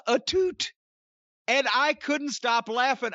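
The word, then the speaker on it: Atout: heard it pronounced so i thought her name was alicia a tout a-t-o-u-t that's what i thought too she introduced herself as alicia etute and i couldn't stop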